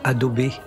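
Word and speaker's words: Adobe: Côté logiciel, j'utilise Adobé Audition. Alors, je prononce Adobé à la façon japonaise et également Reaper.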